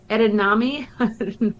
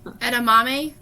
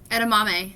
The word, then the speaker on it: edamame: fiber um i don't know why i can't pronounce this next one edinami edamame edamame yeah um that's one of my favorite ones